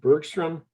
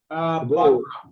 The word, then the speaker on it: Bagram: And we damn sure shouldn't have given up, help me, Dick, is it Bergstrom? Am I pronouncing it correctly? Air Force Base? I mean, we only have the Air Force Base in Bagram.